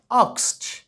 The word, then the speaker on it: asked: আর এখানে একটা উচ্চারণের বেশ লক্ষণীয়, আক্সড, সি, টি সাউন্ড আসবে, যদিও ডি আছে, কিন্তু সাউন্ডের সময় কিন্তু আক্সড, ঠিক আছে?